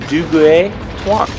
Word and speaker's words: Duguay-Trouin: But the way I was told it was pronounced was Duguay-Trouin.